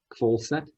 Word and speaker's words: Kvalseth: there that's missing but the h is actually the one that you don't pronounce funny okay uh from